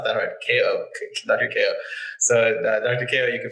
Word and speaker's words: Kao: Kao it's Kay-Oh, k-a-o everybody says how do you say his name cow? Okay i'm like it's not that hard K.O so Dr.